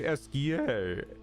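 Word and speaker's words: Esquie: In that case, your best bet is Esqui. If you ask nicely, he can take you across the water. So SKA exists? Okay, the pronunciation's apparently Esquia.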